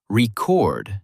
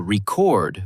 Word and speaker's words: record: For example, the word record noun stresses the first syllable while record verb stresses the second.